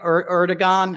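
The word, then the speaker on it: Erdoğan: Erdogan. I always say his name wrong. It's not a hard G.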